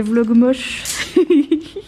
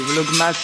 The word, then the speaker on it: vlogmas: Mon papa, il a dit je fais les vlogs moches. Oh, les vlogmas. C'est pas les vlogmas, c'est les vlogs moches. Voilà. Quand je te filme, tu dis plus. Non, c'est les vlogmas, tu prononces mal.